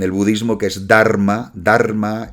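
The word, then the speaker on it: धर्म: budismo que es dharma dharma es eh Cómo se dice en sánscrito damma como se dice en pali es decir está muy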